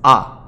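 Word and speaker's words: あ: The first vowel sound is A. This is pronounced like the A in car, or the A in awful, A.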